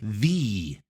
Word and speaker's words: the: Notice the pronunciation of the here. Domino's is the #1 pizza delivery service in America. It sounds like the. Domino's is the #1. The. The #1. Do you hear that?